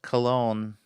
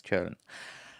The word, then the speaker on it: Köln: So if somebody said Cologne millions of years ago instead of Köln, that's fine. But for Azerbaijani audience, it's easier to pronounce it as Köln, right?